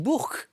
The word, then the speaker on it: Bourg: qui prononceraient encore Bourg-en-Bresse on dit Bourke bien sûr comme Elizabeth a très